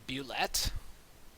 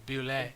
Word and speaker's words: bulette: You mean the bulette? That's the one. That's it. You said it all I French would, like. The bullet. well, Is that's it how I've always said it because it's spelled all French-like.